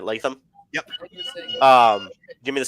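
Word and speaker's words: Latham: JC leam that's how you say it right leam yep um give me The Scouting Report um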